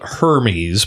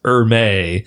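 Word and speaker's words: Hermès: It's spelled Hermes, but I think it's pronounced Hermes.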